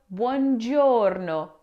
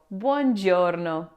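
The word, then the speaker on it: buongiorno: Many English speakers tend to pronounce the first part as bon, but both the u and o must be pronounced blending into a smooth ban sound. So we say bjouro bjouro.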